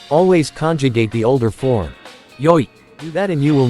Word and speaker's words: 良い: Originally, the adjective いい was pronounced 良い and written using kanji as shown.